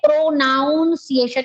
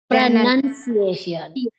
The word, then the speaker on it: pronunciation: a word noun now when we say we say pronounciation it is not pronounciation it is prun pronunciation pronunciation so when we start